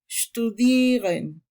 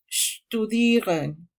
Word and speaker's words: studieren: Los verbos que acaban en iren, que son de origen latino, se acentúan en su penúltima sílaba, como aquí studieren, studieren.